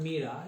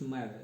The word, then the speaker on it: myrrh: It's not mira, it's myrrh. It's called is myrrh. Okay, in Spanish it's mirra.